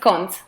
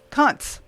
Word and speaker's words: Koncz: Koncz, and tell me, how do I pronounce that last name? Almost good. It's Koncz. Koncz.